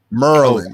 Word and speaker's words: Maryland: underrated states for sure why y'all keep mispronouncing it it's marlin merlin excuse us merlin because it's what happens